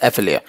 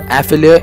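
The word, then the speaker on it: effilé: almond, also called as effilia. But the pronunciation of the effilia is effili. Let me just tell you, and it's not effilia, is effili, right?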